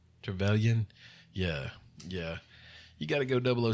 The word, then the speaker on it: Trevelyan: How do you pronounce his name? Trevelyan.